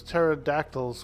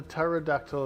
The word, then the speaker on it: pterodactyl: Because the P is silent. You can't tell if a pterodactyl is using the restroom.